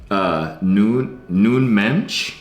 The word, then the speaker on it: Nuno Mendes: Next up, Noon Mensch. Oh, the Portuguese, proper baby. pronunciation. There it is. Who said I'm a dumb American? But he's, or Nuno Mendes is kind of how it's spelled for you simpletons.